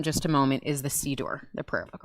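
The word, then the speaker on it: siddur: a moment is the c door the prayer book right and sidor it sounds like the word passover seder because both of them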